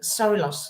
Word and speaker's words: Sorilos: it's Greek, but it sounds very Italian It does. we do have Sorilos. It is Sorilos? Say it yeah, again. Sorilos, yep.